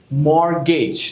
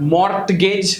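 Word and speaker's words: mortgage: सी एम ए टी सो इट is match मॉर्गेज नॉट मोर्ट गज बट मर्केज ऑफ not often but of butcher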